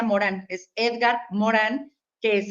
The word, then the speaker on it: Morin: Se escribe Morin, pero se pronuncia Morán.